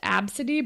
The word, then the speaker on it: ABCDE: name was ABCDE, and it's pronounced Absidy, but it looks like the first 6 letters or 5 letters of the alphabet or whatever.